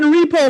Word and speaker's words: repo: half of the year two syllables rhymes with go the fucking repo Market oh sorry G